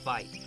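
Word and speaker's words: wyd: White rhinos have wide lips, and most likely got their name from an Afrikaans word for wide, that's pronounced vite.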